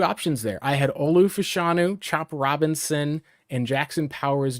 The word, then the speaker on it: Fashanu: I really had an interest, and I think it's actually Fashanu, I think is actually how it's supposed to be pronounced, at least.